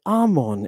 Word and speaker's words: Amen: The reason it sounds like ammon is because it is from the Greek pronunciation.